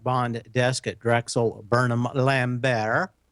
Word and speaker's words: Lambert: desk at drexel burnham lambert no T pronounced on that just like The Colbert Report prosecutors disclosed that he